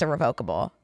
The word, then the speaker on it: irrevocable: who liked Twilight will say irrevocable but it's pronounced irrevocable so you're saying it right but I would